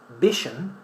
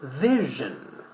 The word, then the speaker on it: vision: So in English we say vision, pleasure. But Spanish speakers may say vision, or even vision if they are not paying attention to the v. Yeah? So don't say vision, say vision. Alright.